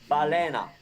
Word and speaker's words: balena: Balena.